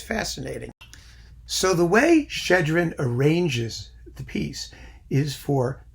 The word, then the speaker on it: Shchedrin: correctly more or less there is in Russian a letter which is a double SH shoe sheesh and so that's how you pronounce it shchedrin I love it I